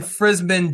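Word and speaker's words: Frisman: They got rid of Ike Hilliard, and they bring in Frisbin Jackson.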